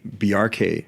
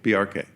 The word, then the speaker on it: Bjarke: pronounce your first name I normally explain it like there's a reference to Bjork because it's similar BJ yeah but the symbol hack just like you would say FBI or CIA you pronounce every letter in the acronym say the acronym BRK quickly BRK BRK oh okay that's how